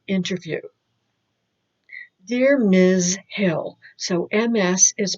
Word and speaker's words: Ms.: Hill, so MS is pronounced Ms.